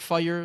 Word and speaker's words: FYR: And then on top of it it's like FYR Strays you might like first time you look at that not know they pronounce it fire.